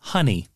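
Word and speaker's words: Hun'ya: behemoth known as now it's spelled h-u-n apostrophe y which i'm going to call honey yeah so superman and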